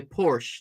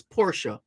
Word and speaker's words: Porsche: correct pronunciation listeners some people tend to say Porsche no it's Porsche that's the correct pronunciation for that make vehicle always inform someone